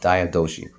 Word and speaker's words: Diadochi: 4 generals known as the Diadochi, Diadochi, if I pronounce it correctly. No, Diadochi. I looked it up on YouTube.